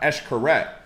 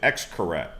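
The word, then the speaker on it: Xcaret: like if you go to cancun they have eshkaret but some people pronounce it x correct x-c-a-r-e-t but it's actually pronounced so uh mexico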